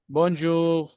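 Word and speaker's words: bonjour: में आते हैं, बोलते हैं, बातचीत करते हैं, तो बोनजूर, बोनजूर ने, आर नहीं बोलता, आर की जगह पे गैन बोलता है, याद रखिएगा।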